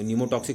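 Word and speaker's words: pneumotaxic: Is called also न्यूमेटिक, PNEU, P silent है, ठीक है, न्यूमोटैक्सिक, टॉक्सिक नहीं, टैक्सिक, न्यूमोटैक्सिक सेंटर, ये न्यूमोटैक्सिक सेंटर कहते हैं इसको, ठीक है।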